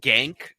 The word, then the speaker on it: Cenk: like 179 British uh it's pronounced gank I'm aware of that pronunciation from Devin uh Lulu four for